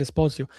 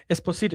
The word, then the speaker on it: Esposito: Pio Espos Esposito. I don't know why I said Esposio. Esposito.